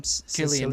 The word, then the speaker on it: Cillian: silly what's how do you say his name Cillian Murphy Killian Murphy yeah um I love the mascara and